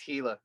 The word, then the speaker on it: Gila: and they all laughed, and they're like, "It's Gila."